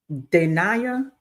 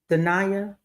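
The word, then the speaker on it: Dayniah: Pronounce your name for me phonetically. Dia. Dia. D A Y N I A H.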